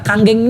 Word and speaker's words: Kangen: atau Kang geng motor kanggeng ini bukan kangen bacanya Bapak Ibu sekalian ya kebetulan maksudnya Andika pula kayak nama sebuah band gitu kan Andika ya itu oke nah bacanya kanggeng artinya back to Origin